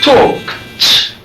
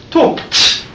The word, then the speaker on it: talked: Talked. Parece que tem um T no final. Talked.